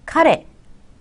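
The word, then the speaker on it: 彼: " 카레 , 카레 " 라고 읽습니다 . " 카레 " 라고 발음 하면 " 카레 라이스 " 처럼 들려 요 . " 카레 "— 이게 바로 억양 이에요 .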